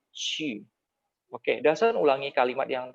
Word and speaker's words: qu: Lause sering mengajari kalian bahwa Q itu dibaca seperti C sama H. U kalau ada ketemu Q, maka dia dibaca seperti titik 2. I-nya ada 2. Maka bacanya bukan Cu, tapi Qu.